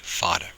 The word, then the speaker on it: fada: which means long stretching fada is spelled FA da fodder so this is actually